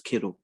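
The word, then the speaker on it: Kero: do what what's their name his name is kiddo his name is kiddle like kettlebell k k-e-r-o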